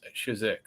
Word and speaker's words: Chizhik: Today we have Richard Carback, Eleanor Terrett, and Chizhik. Am I pronouncing that right?